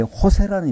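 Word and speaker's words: José: 거기에 호세라는 이름이 굉장히 많아요. 호세. 이 호세라는 이름을 이렇게 쓰고 있고 호세라고 읽는데 그 Z 발음은 호타라고 해서 H로 읽는데 호세가 굉장히 많습니다.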